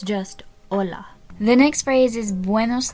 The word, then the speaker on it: hola: basic hello which is hola in Spanish the H is silent so you don't pronounce it it's not hola it's just hola the next phrase is